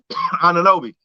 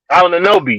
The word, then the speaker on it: Anunoby: Ananobi. Anunoby, yes, him.